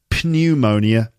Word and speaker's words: pneumonia: it can become pneumonia pneumonia is spelt with a P at the beginning P n EU M o ni a but it's not pneumonia the P is silent and we just say pneumonia so let's just check